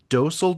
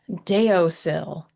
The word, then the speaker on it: Deosil: This one is from Etsy from um, is it Dosel Designs? Super close. Deosil Deosil Designs on I don't even know if that's how people pronounce it, but that's how I pronounce it, but that's how it should be pronounced.